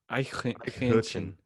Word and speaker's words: Eichhörnchen: Okay, so It's like Hähnchen. Eichhörnchen. All right, let me play it. Let me play it for the people. Eichhörnchen.